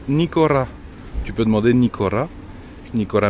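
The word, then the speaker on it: Nikora: Tu peux venir dans les enseignes, cette enseigne, là, ça se prononce Nicora.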